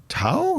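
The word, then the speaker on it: Thao: It includes Valerie June, Tao. Is that how she says her name? Tao. How do you spell it? T-H-A-O. Tao.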